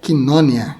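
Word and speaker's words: κοινωνία: O termo grego quina está no mesmo campo semântico de quinonia, que é a palavra que você conhece como koinonia. A pronúncia correta é quinonia.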